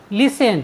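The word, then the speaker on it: listen: next word meaning है एल आई एस टी ई एन लिसन लिसन means होता है सुनना साथियों यहां पर भी टी के बाद ई एन आया है इसलिए हमने टी का उच्चारण नहीं किया है हमारा नेक्स्ट वर्ड मीनिंग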